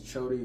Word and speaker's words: Choti: I like that introduce yourself my name is chody it's spelled c h o TI I'm from Uganda